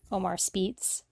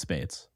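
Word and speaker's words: Speights: was pronounced what how the hell do you pronounce his name om I I spice last name like I think someone said Omar Spees no it's Spates get out of here Spates no I know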